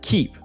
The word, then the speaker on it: Keap: is the CEO of a company called keep like a lot of software companies it's spelled kind of funny k-e-a-p it used to be